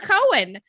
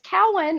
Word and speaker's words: Cowan: i know you as do you pronounce it coward or cohen it's yep it's cowan okay everybody mispronounced it but it is cowan